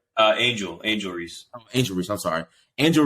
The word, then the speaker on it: Angel Reese: for like last week and a half of Angela Reese that's how you pronounce her name right uh angel angel Reese Angel Reese I'm sorry Angel Reese we actually